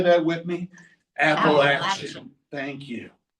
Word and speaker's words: Appalachian: Appalachin. Can you all say that with me? Appalachin.